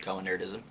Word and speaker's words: Cohenerdism: Hello, Cohenism here on cohenerdism, which is how you pronounce it, cohenerdism.